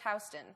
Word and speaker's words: Houston: same yeah but anyway in new york it's pronounced houston the street is pronounced houston and soho refers to an area that's south